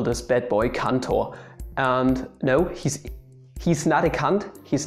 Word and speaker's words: Cantor: is up here and you shouldn't say cantor or something yeah that's basically all that is to his name just pronounce him as kanto and you are fine